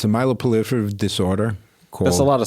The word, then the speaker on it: myeloproliferative: It's called it's a myeloproliferative disorder. That's a lot of syllables. Myeloproliferative disorder. So, myeloproliferative? That's correct. Like prolific? Yes.